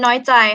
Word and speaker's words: น้อยใจ: And this one น้อยใจ high tone, น้อยใจ.